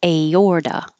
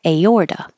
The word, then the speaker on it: aorta: And this is another one where the A and the O next to each other go in separate syllables, so you hear each of them. Aorta. And the T changes to a D because it's between two voiced sounds.